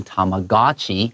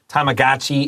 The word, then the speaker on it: Tamagotchi: you hear people say Tamagotchi，两种都可以。 Yeah, Tamagotchi. We're going to say Tamagotchi, but most people because we're using more casual pronunciation, Tamagotchi is the more casual everyday pronunciation.